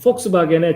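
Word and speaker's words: Volkswagen: 폭스바겐의 제일 제일 앞에 있는 알파벳이 W거든요? 근데 그 W를 독일 사람들은 V 발음을 해요.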